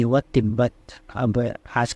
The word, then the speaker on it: तिब्बत: तस्दीद क्या करती है, एक बार तो आधा प्रोनाउंस करवाती है, एक बार पूरा।